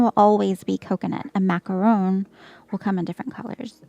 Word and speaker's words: macaron: If it looks like this, it's a macaron. If it's not a layered pastry cookie like this, then it's a macaroon, which is coconut.